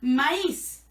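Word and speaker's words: maïs: pero pero la palabra si le ponemos una diéresis en la i se va a pronunciar maíz y va a significar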